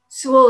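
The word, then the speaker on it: Soule: his wife lived here sewell is spelled s-o-u-l-e and windsor sewell by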